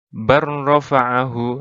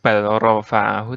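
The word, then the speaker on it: بَل رَّفَعَهُ: Tulisannya seperti ini, bacanya barrofa'ahu, langsung. Jadi bukan balrofa'ahu, tapi barrofa'ahu gitu.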